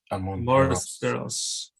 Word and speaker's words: Amores Perros: Amores Perros. Amor, like love.